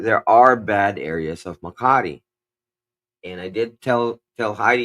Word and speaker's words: Makati: He said it's a difference between day and night when you live, and even in Makati.